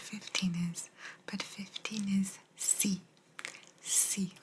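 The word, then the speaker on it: sì: is but 15 is c c literally pronounced like C C 16 is no yes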